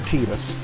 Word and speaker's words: Tidus: Final Fantasy X, that even Square Enix can't decide how Tidus' name is pronounced. Me and Tidus, we are gonna do a little exploring today. You know, to the secret place at the base of that tree. There's gotta be something there, yeah? Now, you heard the way he pronounced Tidus' name. He said Tidus.